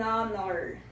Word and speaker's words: honor: Se o H não é pronunciado, então a letra seguinte é uma vogal.